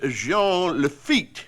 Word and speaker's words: Jean Lafitte: Some of us took part in very historical events, such as Jean Lafitte, a Frenchman, you see. I use the French pronunciation, the way you say it.